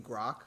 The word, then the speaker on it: Grok: you mean Grok? No, yeah, Gork. What's Gork up to? What's Gork? Yeah, you're saying his name wrong because I disrespect the robot.